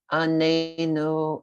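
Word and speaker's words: עננו: It's only when you say anenu, a stress on the second syllable, that means answer us.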